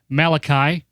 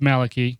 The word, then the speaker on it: Malachy: We've got Malachy. Just kidding. It's Malachy. You guys know that. Don't mispronounce it.